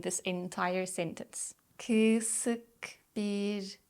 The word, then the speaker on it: kısık: So if you know that meme, just focus on that sound. Kısık, kısık, ışık, ışık, mısır, mısır, yazlık, yazlık, kadın, kadın.